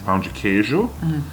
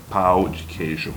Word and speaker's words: pão de queijo: Pão de queijo. Yeah, ela tem medo de falar pão de queijo porque vai sair pau de queijo.